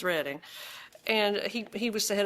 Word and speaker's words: Reading: It was a college professor who taught at Albright College in Reading, Pennsylvania, which I always pronounced Reading, but it's Reading.